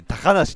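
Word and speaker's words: 小鳥遊: みんなアニメオタクだったらさ、小鳥遊びって書いて高野氏って読むのはさ常識だからね。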